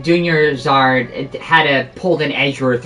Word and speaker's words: Dunyarzad: You actually pronounced it right this time, DUNYARZAD.